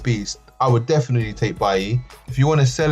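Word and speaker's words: Bailly: in bodies had some barley Bailey's by E I should say it properly by E has had some game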